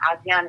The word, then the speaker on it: Asiahn: I'm on all social media as I am Asiahn, and Asiahn is spelled A-S-I-A-H-N. So think of Asia like the continent, mm-hmm. Add an H-N at the end.